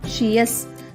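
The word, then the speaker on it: -tious: TIOUS యొక్క ఉచ్చారణ షియస్.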